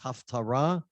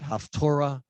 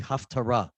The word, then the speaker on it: haftarah: hebrew this is haftarah for breishit the correct pronunciation is haftarah some you'll hear it haftura that's where where people get confused about half torah it's really haftarah because it it's not about the torah it's